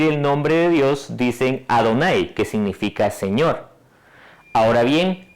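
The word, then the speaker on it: Adonai: han tomado de la palabra ado nay en hebreo suena más a donnay y por eso se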